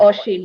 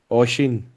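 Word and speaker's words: Oisín: Oshin one. Oisin.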